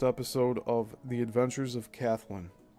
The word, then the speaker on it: Kathlyn: On December 29, 1913, Selig Polyscope debuted the first episode of The Adventures of Kathleen. It's either Kathleen or Kathleen, but it's spelled Kathlyn.